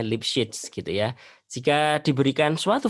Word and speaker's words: Lipschitz: Lipschitz, bacanya Lipschitz gitu ya.